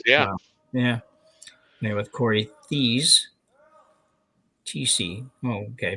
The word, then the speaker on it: Thies: TC. Oh, okay. Pronounce it even. She good thing she told us it's actually pronounced TC.